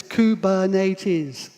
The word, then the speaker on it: Kubernetes: and i'll help you but it's kubernetes it's a greek word i'm not going to